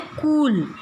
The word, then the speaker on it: कूल: पहली छोटी ऊ की मात्रा में हम उच्चारण कैसे करते हैं? कुसुम, मतलब ये हम ऊंचे स्वर नहीं करते हैं उच्चारण, पर बड़ी ऊ की मात्रा में कूल, इसका पूरा उच्चारण होता है, कूल।